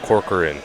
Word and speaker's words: Corcoran: last name is pronounced Corcoran the Korean Corcoran Corcoran it's actually pronounced phonetically so you just have to pronounce it slowly once for korad and